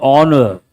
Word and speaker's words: honor: H is silent, honor.